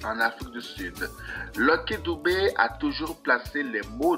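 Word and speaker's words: Dube: à tous lcky Philippe doubé prononcé doub né le 3 août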